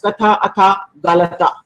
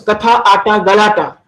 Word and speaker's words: Katha Ata Galata: No, ma'am. It's called Katha Ata. Katha is storytelling, Ata is playing, and Galata is drama. Okay, so Katha Ata Galata.